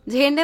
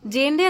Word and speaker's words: ঝেন্ডে: ঝেন্ডে বলে জেন্ডে না ঝেন্ডে হবে। জেডের উচ্চারণটা ঝড়ের ঝেন্ডে হবে।